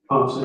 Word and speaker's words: Ponce: And Officer Ponce, is that how you pronounce his name, Ponce? Ponce, yes.